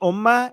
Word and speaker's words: ummah: So in Arabic, they say Ummah. In Persian, they say Ummat. So the t that is silent in Arabic, in Persian, they pronounce it.